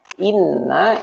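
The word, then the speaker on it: إنّا: Makanya bacanya nanti panjang ya. Inna gitu.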